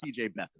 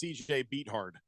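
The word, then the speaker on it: CJ Beathard: who the backup is it's CJ Beth oh goodness sorry you're incorrect it's CJ beat hard that's actually how you pronounce that that's a tough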